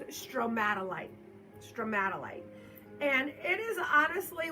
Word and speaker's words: stromatolite: This is a, I believe the correct way to say it is stromatolite.